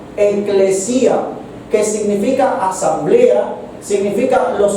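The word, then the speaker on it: ἐκκλησία: Recuerden que incluso la palabra iglesia se deriva de una palabra griega que se pronuncia eclesía con dos k eclesía, que significa asamblea, significa los congregados, significa los llamados a salir fuera.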